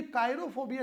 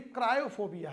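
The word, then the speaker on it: cryophobia: से डर लगता है ये काइरो फोबिया नहीं है क्रायो फोबिया है स्पेलिंग ठीक कर लेंगे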